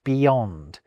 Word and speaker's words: beyond: But hold on, I definitely hear a Y sound in beyond. Beyond. It's related to yonder, isn't it?